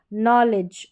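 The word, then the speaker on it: knowledge: कनी नहीं नॉलेज और यह है नाइट ना कि कनाइ। तो यहां पर उच्चारण है।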